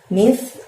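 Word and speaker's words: مثقال: Mith, ujung lidah kamu dorong ke gigi atas. Jadi mithnya tipis.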